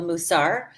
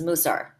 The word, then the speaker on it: Mussar: You are in, you know, according to technical grammatical Hebrew, it is called Mussar. It has come colloquially to be known as Mussar. So either one of those pronunciations is in use.